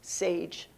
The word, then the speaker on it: SAIG: applications and innovations group saig pronounced sage it even sounds like adding wisdom to your work and this is exactly